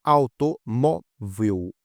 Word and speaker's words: automóvel: Da mesma forma, automóvel. Automóvel é a penúltima, que é a mais forte.